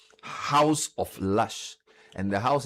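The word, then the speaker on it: Haus: So for example this company called House of Lush and the House is spelled H A U S.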